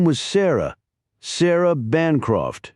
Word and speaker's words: Bancroft: Sarah Bancroft." she added, stressing the first syllable of the rather patrician-sounding family name.